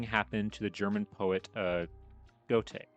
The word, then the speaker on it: Goethe: Just that thing happened to the German poet Goethe. Is it Goethe? I'm pretty sure it's Goethe. That's how you pronounce it.